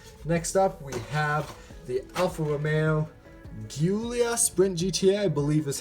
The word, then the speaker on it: Alfa Romeo Giulia Sprint GTA: looks absolutely amazing next up we have the Alfa Romeo Giulia sprint GTA I believe is how you pronounce it unboxing this one well first I